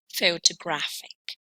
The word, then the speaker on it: photographic: The stress mark that we see here shows that this word is double stressed with the secondary stress going on the first syllable and the primary stress on the third one.